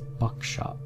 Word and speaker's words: Buckstaff: of the original owners the buckstaff pronounced the buckshop family turned out that the